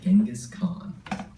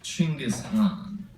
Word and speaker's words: Chinggis Khan: We'll see in History versus Genghis Khan.